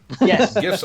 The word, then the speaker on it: GIF: a proper english discussion there's no debate it's gif with a hard g i mean the guy